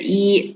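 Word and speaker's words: 一: four five number one how do you read it ah very good e right but if you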